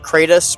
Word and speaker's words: Kratos: So believe it or not, Kratos is actually a character in the Greek myths. His name is pronounced Kratos or Kratos with a C instead of a K, and